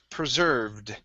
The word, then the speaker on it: preserved: Ed ending is um preserved preserved preserved okay I don't pronounce that e right there so it's preserved preserved